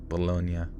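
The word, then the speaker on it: Bologna: be back tomorrow at the hotel balone baloney Hotel baloney bolognia oh it actually is bolognia why the hell do we pronounce a baloney what the [ __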